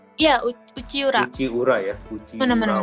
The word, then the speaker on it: Uchiura: itu, Uci Urawan kah bacanya? ya Uchiura.